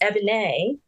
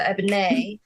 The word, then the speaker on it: Ebonée: So my name is actually pronounced EBONÉE. It's like ebony, but with a little razzle dazzle. So EBONÉE.